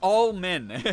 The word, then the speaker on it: Allman: Almond or Almond, it's Allman.